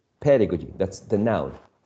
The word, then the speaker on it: pedagogy: the word the pedagogy pedagogy is stressed on the first syllable pedagogy that's the noun pedagogy now the the adjective